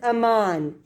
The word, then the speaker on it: Aman: Aman. Ms. Aman. And that is spelled A-M-A-N.